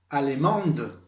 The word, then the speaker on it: allemande: Recuerden que, aunque esa E final que se va a agregar en el femenino no se pronuncia, a partir de ese momento me obligará a pronunciar todo lo que esté antes de ella.